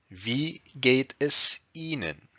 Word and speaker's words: Wie geht es Ihnen: Pronounced Wie geht es Ihnen?